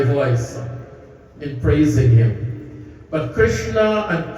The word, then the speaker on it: Krishna: Krishna itself means Krishna, without stressing on the last syllable, the Krishna, that is Bhagwan. That is the flute player, the cowherder, Paramatma himself. And Krishna, when you stress on the Krishna, that becomes feminine.